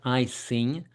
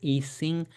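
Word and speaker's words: Ising: It's not I sing. Uh majority of people pronounce it eing. And that would make sense being that's a German word and they wouldn't use the letter I to express the sound I.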